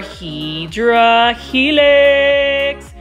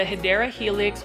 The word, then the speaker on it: Hedera Helix: This is our Hydra Helix. Gotta love the Hedera Helix or English Ivy. Now, for those that are new, you already know that I mispronounced Hedera Helix as Hydra Helix.